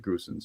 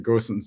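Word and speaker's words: Gosens: uh that system and I think I mean goson's uh put it right it's okay if you pronounce it goosen's it's fine it's fine uh the grossens is the the German pronunciation um he in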